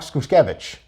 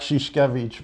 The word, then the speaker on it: Szuszkiewicz: high school so our next guest is Skoosh kovitch did I get that right no nobody does how do you pronounce it sheesh kovitch but I was the TV name like I